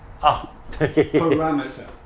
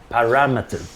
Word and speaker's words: parameter: Sorry, I should tell you, you're still doing that four-syllable thing. Parameter. Parameter, yes.